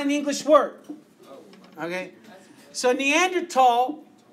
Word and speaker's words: Neanderthal: It's pronounced Neanderthal because it's not an English word. Okay? So Neanderthal, even though it's spelled with a TH, Neanderthal is a different species.